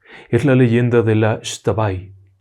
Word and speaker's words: Xtabay: la leyenda de la estaba se escribe x t pero se pronuncian yo estaba ahí y es una historia